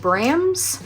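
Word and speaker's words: Brahms: And then we have uh I think it's pronounced Bram Hungarian dances for piano.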